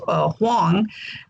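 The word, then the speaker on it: 黄: My Chinese name is Huang, in Mandarin, Wang is pronounced Huang, which means royal.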